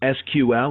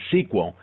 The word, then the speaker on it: SQL: Structured Query Language, SQL, pronounced as SQL or sometimes as SQL, is actually the standard language for dealing with relational databases.